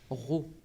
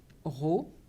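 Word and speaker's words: rho: désigne cette grandeur par une lettre grecque que l'on prononce raw et pour la calculer il faudra retenir la formule suivante raw est égal à m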